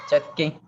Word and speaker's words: Schottky: ¿Cómo se pronuncia ese, profe? Es Chucky. Schottky, ¿cómo? Es Chucky.